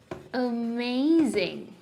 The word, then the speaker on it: amazing: This tastes Amazing. Amazing. Pronunciation. Amazing. Amazing. When a occurs in the beginning of a word, you have to pronounce it as amazing.